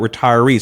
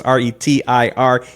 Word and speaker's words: Retirease: And by the way, those are the resources that we're talking about as we build out Retirease.